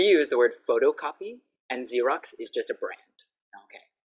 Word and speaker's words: Xerox: It doesn't have Z in it, but the sound is Z. So we don't say Xerox, we say Xerox.